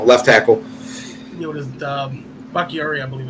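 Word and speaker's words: Bakhtiari: Backatari. I don't know. You know what I'm talking about. Their offensive tackle, left tackle. What is it? Bacchiari, I believe. Bacchiardi, that's it.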